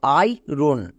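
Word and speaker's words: iron: রন পুরোটা কি দাঁড়ালো আই রোন আই এর পরে আর থাকলেও আমরা এখানে আর ইউজ করিনি এটা কিন্তু খুব ইম্পর্টেন্ট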